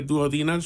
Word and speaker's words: duodenal: And then the duodenal switch, which is meant for people.